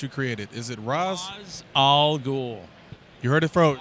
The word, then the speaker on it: Ra's al Ghul: Ra's al Ghul. You heard it from... R-A apostrophe S is pronounced Ra's. There's no S-H in there.